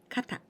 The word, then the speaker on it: 方: And we add this kanji that we just learned, this kanji, and we pronounce kata.